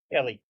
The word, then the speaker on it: Eli: Ellie. It's It's spelled Eli, but it's Ellie.